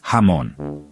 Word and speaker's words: jamón: Also, J sounds like H in jamón, so it's pronounced jamón.